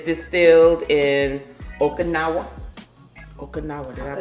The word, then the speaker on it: Okinawa: It's distilled in Okinawa. Did I pronounce that? Yep. Okinawa.